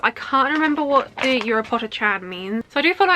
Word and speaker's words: Urupocha-chan: of it here, but I think it's pronounced Urupocha-chan. I think whenever I say that I always think of Europapa from Eurovision.